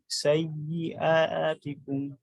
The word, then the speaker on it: سيئاتكم: والله সাইয়াতিকুম আবার বলেন سيئاتكم হামজার উচ্চারণ হঠাৎ করে আর বলেন সুন্দর করে سيئاتكم হ্যাঁ এরকম প্রত্যেকটা হরফ আলাদা করে স্পষ্ট করে পড়বেন والله সাইয়্যাতিকুম সাইয়্যাতিকুম سيئاتكم والله بما